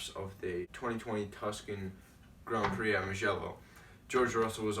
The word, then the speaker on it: Grand Prix: like a British accent, so they go like Grand Prix. And then I like caught myself saying like Grand Prix. I'm like, no, like the right way to say it if you're an American is Grand Prix.